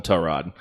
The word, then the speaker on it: Tyrod: how it is is most people call him tie rod his mom calls him tow rod so this is like